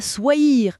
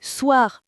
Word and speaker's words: soir: Mais attention à la prononciation de soir, c'est pas soir, c'est soir. Un peu comme dans boire, ça donne je mange des pâtes ce soir.